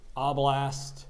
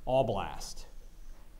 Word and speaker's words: oblast: the ivanovo oblast oblast are there any alternate pronunciations oblast all blast all blast can you please repeat